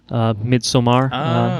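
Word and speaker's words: Midsommar: a film called midsummer midsummer if you want to guess I'm look that's the correct Swedish pronunciation of it have either of you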